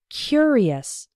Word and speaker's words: curious: we pronounce it the the adjective form is curious the first syllable is strong he was a curious boy and in the